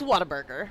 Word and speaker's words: Whataburger: It's Whataburger. Whataburger. Yes. Gotcha. Yes. Yep. Because I was telling the listeners earlier today that I have some Texans in my life that say Whataburger.